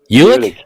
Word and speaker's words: Ulick: Is it Ulick or Olic? I was thinking Ulick. Ulick. Yeah, that's what I thought.